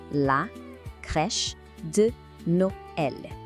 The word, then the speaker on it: la crèche de Noël: A pronúncia aqui, é assim, la crèche de Noël.